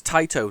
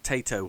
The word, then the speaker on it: Taito: So it's Taito, not Tato, as I keep on saying. It's like potato, not a potato.